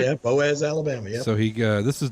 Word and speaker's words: Boaz: Yeah, Boaz, Alabama.